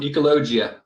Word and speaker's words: Ecologia: that's a good one ecologia okay so my college classes that i took a long time ago wanted to make me pronounce it as ecologia in the spanish so i was like